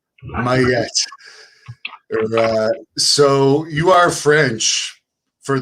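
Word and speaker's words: Maillet: real name is Robert Mallet. Am I pronouncing that right? Very close. It's Maya, but it's pretty close. I'll give you an A. Mayette.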